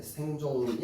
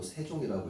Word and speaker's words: 세종: 여기 예은 발음이 되는 거고 여기 이응은 발음이 안 되는 거야. 아시겠죠? 자, 그다음에 생종이 아니고 세종이라고 읽어야겠죠.